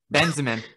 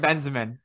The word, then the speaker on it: Benzema: or not third georginio four karen karen bessemen benzemann karen benzemann uh kareem benzema thank you isn't it great